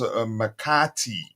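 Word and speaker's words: McAtee: about Chelsea's interest man City's under 21 James mcti y That's how you pronounce his name Bologna's comments on um cfii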